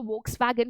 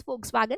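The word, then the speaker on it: Volkswagen: और एक मैं आपको एग्जांपल देती हूँ, आपको फोक्सवैगन पता होगा, ठीक है, बहुत बच्चे उसको वोक्सवैगन बोलते हैं, आप बोल सकते हो, बट उसका करेक्ट प्रोनाउंसिएशन है फोक्सवैगन, जिसकी गाड़ियाँ यहाँ पे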